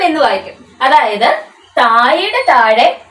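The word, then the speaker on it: तुम: എന്താണ് അതല്ലെങ്കിൽ അവൻ ഇനി വേറൊരു വാക്ക് നോക്കിയാലോ നമുക്ക് തും കണ്ടോ തും എന്ന് വായിക്കും അതായത് താഴയുടെ താഴെ ഈ ചിഹ്നം കിട്ടുമ്പോൾ എന്താണ് അവിടെ ഉച്ചാരണ രീതി മാറുകയാണ് ഏതൊരു വാക്കിന്റെ എവിടെയാണേലും മുകളിൽ ആണേലും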